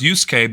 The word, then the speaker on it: Yusuke: I only know how to pronounce Yusuke because Yusuke is apparently a very common Japanese name, or at least there are quite a few famous people whose names are Yusuke.